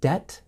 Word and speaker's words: debt: Remember, with the word debt, the B is silent. Debt.